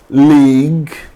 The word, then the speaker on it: league: U is often silent after a G and before a vowel. So, if there is G, then U, then a vowel, then G is often silent. For example, colleague, God, guest. You can notice here U is just after G, and after U there is a vowel. So U is silent.